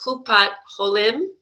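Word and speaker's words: Kupat Holim: Is I was researching your company, and there was an article that said that you wanted to bring something called the Chupat Holim.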